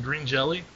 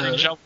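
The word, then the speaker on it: Green Jellö: You mean green jelly? Yeah, green jelly. Yeah. Green jello.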